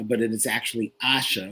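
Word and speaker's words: Aasha: and the actress is asha davis uh you guys were saying asia but it is actually asha which rhymes with sasha okay our podcast um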